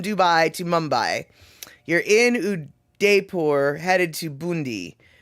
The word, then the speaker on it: Udaipur: You're in Udaipur, headed to Bundi.